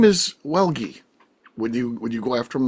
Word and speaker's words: Welge: Like, no, just be like, oh, hey, by the way, it's pronounced Welge.